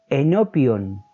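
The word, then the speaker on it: ἐνώπιον: Esta otra palabra se pronuncia enopion y significa delante de, y se usa en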